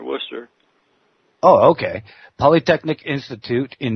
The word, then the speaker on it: Worcester: say it wrong but worchester polytechnic what how is it as if there is no r in there worcester oh okay polytechnic institute